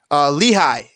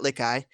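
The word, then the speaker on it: Lichaj: Lehigh is the pronunciation for Eric Lehigh, not Lickey.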